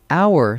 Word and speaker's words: hour: Hour starts with a consonant letter, but the H is silent, so it sounds like hour, a vowel sound, so it's an hour.